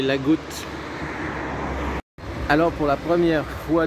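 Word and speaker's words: Agout: En fait, c'est L'-A-G-O-U-T. Et dans le sud de la France, vous prononcez toutes les lettres. Donc, c'est pas Lagou, mais la Goutte.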